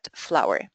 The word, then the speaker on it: flour: The pronunciation is exactly the same as the word flour.